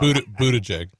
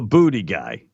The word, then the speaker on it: Buttigieg: Buttigieg. There you go. Buttigieg. What? Yeah, now you got me all messed up. Buttigieg. Yeah. Thank you. Now you got me messed up. The booty guy.